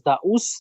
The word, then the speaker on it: Daauus: in order by the way the name is the US that's how you pronounce so and that has a meaning in